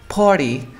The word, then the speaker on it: party: Entonces no te preocupes, aprende la primera, que es la T después de la R y viene un sonido de vocal, no pronuncio la T.